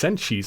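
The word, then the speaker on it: Senshi: Hey guys, Boone the editor here, and I just realized that I mispronounced Senji's name as, Senji.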